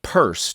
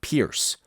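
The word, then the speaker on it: Peirce: founder of pragmatism that's pronounced purse despite the fact that it looks like Pierce a logician scientist and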